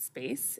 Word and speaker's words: SPACC: And then action planning for the East Portland TIF district, 82nd Avenue, east of 205, and the SPACC, or as we pronounce it, SPACE, is underway with the community leadership committees.